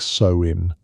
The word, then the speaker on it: Samhain: Samhan was the word many used. Say it like so in.